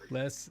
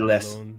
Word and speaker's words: le: Les 6 Voyages. Le, not less. You don't pronounce it. It's le.